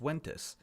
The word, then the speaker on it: Ventus: correcting people saying no it's not pronounced ventes it's pronounced Wes and I felt like